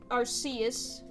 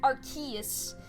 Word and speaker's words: Arceus: i said it but he was pronouncing it like key like arceus and that upset me